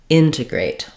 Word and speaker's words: integrate: final syllable eight uh be careful not to stress that even though you have the clear vowel you don't want integrate but rather integrate long short short integrate um or integrate